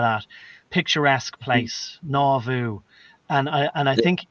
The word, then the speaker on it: Nauvoo: Can you pronounce it? Huvi or something? What was it? Nauvoo. Nauvoo. Yeah, something like that. Nauvoo, yeah. Nawvoo.